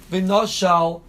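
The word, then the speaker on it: ונשל: Now, everybody agrees that it's spelled vav nun shin lamed in the Sefer Torah, and everybody agrees that the Baal Koreh reads it v'noshal as if there's an aleph in there.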